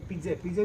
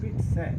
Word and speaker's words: pizza: होता ही नहीं, तो पिज्जे भी नहीं होता, ये होगा है पिट्स है ना। इंटरेस्टिंग पिट्स है, जो कोई नहीं बोलता इसको।